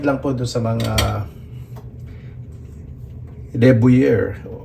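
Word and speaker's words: de Buyer: Paki-comment lang po dun sa mga deber. Parang buyer yung spelling pero deber yatapronounce.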